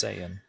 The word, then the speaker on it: Saiyan: It is pronounced Saiyan.